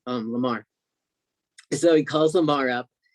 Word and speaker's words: Lamar: Lamarck, is Lamarck the agency, the Billboard agency? Yeah, Lamar. Lamar. Lamar. It's spelled Lamar. So they were the first agency that you spoke to.